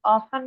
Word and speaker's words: often: Has Often. two pronunciation. One is often, one is often. So why did we go for often? Because often is easier to pronounce, right?